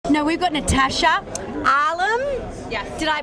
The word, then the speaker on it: Natasha Alam: no we've got natasha arlem yeah did i pronounce it yes natasha allen how easy is